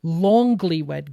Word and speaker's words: Longlywed: So it is called affectionately by us, the Longlywed Game, as in like Long Island. So you really want to pronounce that G, Longlywed Game.